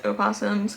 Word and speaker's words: opossums: The correct way to say it is opossums, because possums and opossums are different animals.